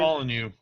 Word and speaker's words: Molyneux: me because the game Curiosity by this Peter Molyneux, I think is how you pronounce Peter his name. Molyneux.